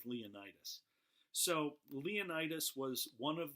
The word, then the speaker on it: Leonidas: There were 300 Spartans, and they were led by their king, and I've heard it pronounced two ways, Leonidas or Leonidas. I tend to go with Leonidas.